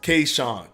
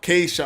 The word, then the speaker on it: Keyshawn: that amazing fight hello it's pronounced Keyshawn Keisha oh I say I see it's K and then Sean got you uh k-shawn no word no worries key thing